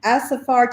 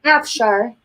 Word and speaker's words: Afshar: Jasmine Asafar, tell me if I'm pronouncing that right. Afshar. She is an Army veteran.